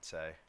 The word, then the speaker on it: Sei: Same with Sai or Essay or however you pronounce it. Say. I'm pretty sure it's Say.